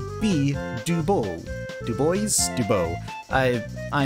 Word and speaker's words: Du Bois: about pronouncing his name w e b Dubois two boys it is Dubois this is not French all right that is Dubois huh well oh Francis